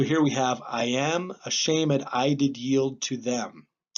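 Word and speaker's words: shamèd: This little accent mark there, this little backwards one, that means that we're going to pronounce that as a syllable. So it's not shamed, it's a shamed. He does that whenever he wants to buy himself a syllable.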